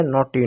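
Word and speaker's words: naughty: यू खत्म हो गया, जी एच टी में जी साइलेंट होता है, जी एच साइलेंट हो, जी एच को काट दिए, टी का टॉ लिख दिए, और वाई का बड़ी की मात्रा हो गया नोटी, नोटी मिस होता है नटखट।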